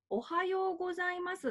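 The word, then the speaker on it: おはようございます: 始めるとしますおはようございますってアクセント的にハようございますってなりますよね大からハァハァの時に音が上がるんですけども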